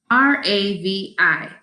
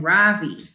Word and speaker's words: Ravi: floor besides my desk r-a-v-i miss beam has been calling him ravi but when he introduced himself he i'm pretty sure he said his name was ravi with an accent on the second syllable as i reach down